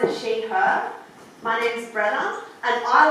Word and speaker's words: Brenna: My name's Brenna, and it kind of rhymes with Gemma.